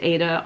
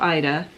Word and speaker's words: Aida: And I had it done on an Aida is how I always pronounced it. I thought it was like the opera, so now I've heard it pronounced Ada or Ida, and I still tend to lean toward Aida.